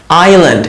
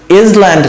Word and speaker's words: island: আইল্যান্ড, এখানে এসটা silent, এসটা উচ্চারণ হয় না। তো দেখেন ইসল্যান্ড না কিন্তু আইল্যান্ড, আইল্যান্ড মানে দ্বীপ, আইল্যান্ড।